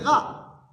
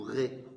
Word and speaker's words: Ra: C'est le bavot, c'est la ba parce que c'est rat. Le dieu principal des Égyptien. R c'est une tête de bélier. Ra il s'appelait. Oui. Ou ré, ça dépend des prononciations hiéroglyphes.